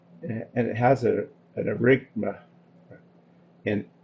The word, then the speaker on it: aerenchyma: And the word is spelled aerenchyma. It's aerenchyma.